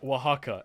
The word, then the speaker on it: Oaxaca: I like just going it's pronounced Oaxaca it's a kind of cheese you Philistine just like